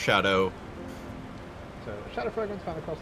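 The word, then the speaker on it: Scadu: Yeah, so, and yes, it may look like it says Skadu fragments, but it's actually Old English. Yes, that is just pronounced Shadow.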